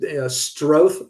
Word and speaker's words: Stroth: quick yeah and and my name is pronounced stroth like growth but if you look